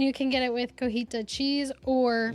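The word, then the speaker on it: cotija: I think that's how you pronounce it. Elote. And you can get it with cojita cheese or Cojita.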